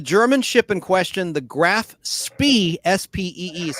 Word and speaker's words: Graf Spee: The German ship in question, the Graf Spee, S-P-E-E is how it's spelled, was indeed scuttled by her crew under orders from Captain Hans.